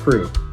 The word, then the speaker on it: Krewe: us to be a part of the crew, and that's spelled with a K and an E.